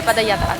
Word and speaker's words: Padayatra: Enfin moi je dis tran, Padayatra ou bien Padayatran. Ok, pas nous va voir comment on va les prononcer.